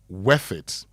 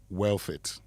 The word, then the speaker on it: worth it: Could you consider discussing the word worth it in your next Say It Right? A lot of people mispronounce it as wealth it.